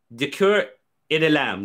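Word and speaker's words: Du Cuir et de la Lame: That's the name of his channel, Du Cœur et de l'Âme. Du Cœur, I'm not saying it right. Du Cœur et de l'Âme, there you go.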